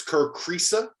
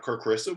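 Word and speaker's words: Kerr Kriisa: And it's Kerr Krisa, not Kerr Krisa.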